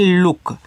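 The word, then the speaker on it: look: L double O के इसको पढ़ते हैं लुक। तो एल से आपका लब ओ से बड़ा ऊ का मानता है लु। सॉरी छोटा उ का मात्रा लु और के से आपका का लल्लू देखो इस इंग्लिश में डबल ओ से बड़ा ऊ का भी मात्रा बनेगा और आपका छोटा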